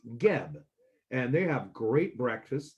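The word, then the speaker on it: Guieb: spelled gu I EB it looks like gub but it's pronounced GB and they have great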